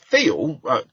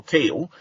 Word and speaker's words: Thiel: So, Thiel, or Teal, depending on how you say it, he's instrumental in the